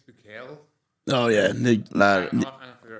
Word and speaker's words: Bukele: But yeah, if he's cleaning up the gangs, I know nothing about Nayib Bukaki, but he's actually a cool guy, so I lad. don't understand. He's badass. I think it's Bukele.